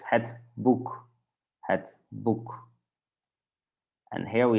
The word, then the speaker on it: boek: And when we have those two, the two-letter combination, then we say it like U. So it's het boek, het boek.